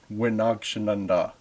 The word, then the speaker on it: wi-naagshinandaa: I don't know why that M changes to an N sound at the beginning of the word when you put wi in front of it, but that's how I've